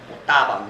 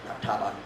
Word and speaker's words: mutabang: Mutabang, not tabang.